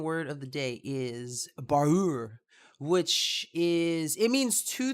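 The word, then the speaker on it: baar'ur: of the day is barur which is it means two things um there's two different spellings but the word is pronounced the same the first borrower which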